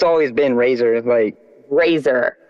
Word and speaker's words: RXZR: with my homie Razor, it's spelled RXZR now.